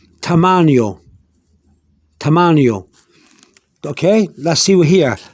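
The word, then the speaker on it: tamaño: here again poor sioux force not for its tamannio tamannio okay let's see here termanio is the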